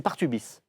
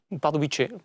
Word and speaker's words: Pardubice: redouté, beaucoup plus ancien, c'est Partubis. Oui, Pardubice, la prononciation à la tchèque, Laurent. C'est mieux.